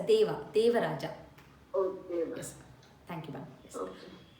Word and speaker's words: देव: So first one is a Deva. You pronounce a Devya. It's a Deva.